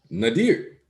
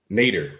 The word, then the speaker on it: Nadir: Nadir. I gotta fix this now that I'm a part of the congregation. And it's pronounced Nader.